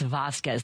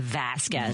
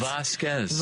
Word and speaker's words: Vasquez: It's Vasquez, not Vasquez. Vasquez.